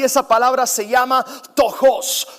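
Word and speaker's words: πτωχός: Él utilizó una palabra distinta y esa palabra se llama tojos. Tokos dicen en inglés algunos, pero es tojos, se pronuncia en griego.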